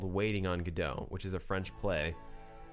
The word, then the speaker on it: Godot: play called waiting on godot which is a french play and how you pronounce godot in the play is how i'm saying it so it's not go dot anyone that says godot